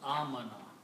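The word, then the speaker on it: آمن: So when two alifs are there, you pronounce it amana.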